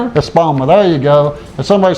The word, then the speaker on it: Espoma: Espoma. Espoma, there you go.